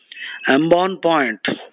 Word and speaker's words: embonpoint: Embonpoint, embonpoint. The T is silent.